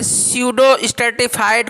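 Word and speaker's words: pseudostratified: अब जो इपिथेलियम का अगला पार्ट है, स्यूडो स्ट्रेटिफाइड कोलुमनार इपिथेलियम। इसमें क्या है, पी साइलेंट है, ठीक है।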